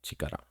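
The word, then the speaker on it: 力: There's this one, which is power, and it's pronounced as chikara.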